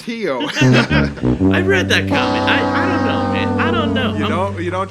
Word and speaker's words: Rio: in Brazil says this Rio is pronounced Hyo I read that you